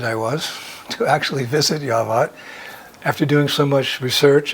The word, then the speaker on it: Yavat: with our miniseries on yavat sometimes pronounced java as you may know